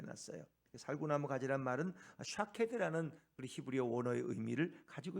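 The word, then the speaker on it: שָׁקֵד: 비슷함 그 히브리어로 있는 그 음성이 비슷하다는 거예요 발음이 살구나무는 샤캐드라고 하는데이 지킨다 이루어진다 지켜낸다 이런 말의 의미도 찾게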